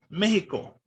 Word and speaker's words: Mexico: SH sound to now it's, of course, the J sound. And so that's why, even though it's spelled with the X, because the Spanish language changed, it's no longer pronounced Mexico, and now it's pronounced Mexico.